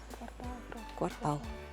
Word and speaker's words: квартал: квартал как-то режет слух квартал ты как думаешь квартал квартал на последний слог Да давай проверим правильный